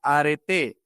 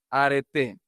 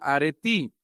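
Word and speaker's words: ἀρετή: La palabra en griego antiguo se pronunciaba areté. Acuérdense de lo que usan las hermanas, ¿verdad? Solo que en lugar de arete, areté. Hoy en la pronunciación griega moderna se pronuncia aretí, significa excelencia moral.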